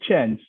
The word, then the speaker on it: Chang'e: So usually it's very difficult to pronounce the name of the Chinese Chang'e mission. It's not Chang'e, but Chang'e.